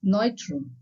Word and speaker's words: Neutrum: In German, we call it as Neutrum. Remember, EU anywhere in the word is pronounced as oi.